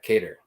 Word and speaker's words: Kattar: kater versus josh emma let's say it right cater black guitar yeah cater calvin um i believe